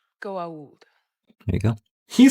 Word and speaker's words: Goa'uld: It's pronounced... Goa'uld.